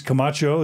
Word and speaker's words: Camacho: We're going to be interviewing James Camacho. Is that how you pronounce it, James?